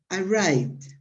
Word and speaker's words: arrived: The first way is to pronounce it, to pronounce the ending ed as a d. For example, as she said, arrived, okay? Arrive. That is, arrive is the pronunciation of, without ending. The last sound of the word arrive is a V, arrive. And then the pronunciation of ed is a D, so you say arrived, okay?